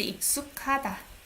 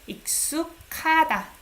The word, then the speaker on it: 익숙하다: The verb is 익숙하다. You pronounce it as K here. 익숙하다.